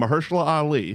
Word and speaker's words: Mahershala Ali: Just don't read his name. If you just say his name, Mahershala Ali, Yeah. it's fine. It's the second you look down and go, those That's letters not- don't belong together. That's not how that's pronounced.